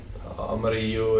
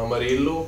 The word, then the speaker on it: Amarillo: Amarillo är ju spanska och betyder gul, så jag uttalar det som det är på spanska, men de flesta säger nog Amarillo, och det är väl okej.